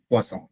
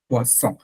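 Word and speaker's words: poisson: আর double S থাকলে ছ, হ্যাঁ ছ, ছ, ছ, ছ, বাংলা ছ, পোয়াছ, হ্যাঁ ছ। পোয়াসন আর পোয়াসন।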